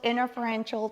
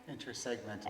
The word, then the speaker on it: intersegmental: Those are called interferential traction. Am I saying it right? Intersegmental Oh, traction. yes. So between segments.